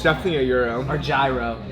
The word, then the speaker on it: gyro: I always thought it was a gyro. It's definitely a euro.